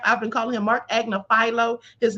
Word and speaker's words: Agnifilo: They have him in here as Mark Agnigilio. So I'm not the only one mispronouncing it, but his name is Mark Agnifilo.